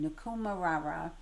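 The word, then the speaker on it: Nikumaroro: So there's something in Nik nikum ra nikumarra I listen to the pronunciation nikumar raara and there's something there that they think could be her aircraft.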